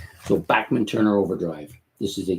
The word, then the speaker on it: Bachman: out and said that his name is Bachman, not Bachman, even though it's spelled with the German pronunciation of Bachman there. You can see it, B-A-C-H, that's Bach, man. But he says that they've always been known as Bachman, so we'll give him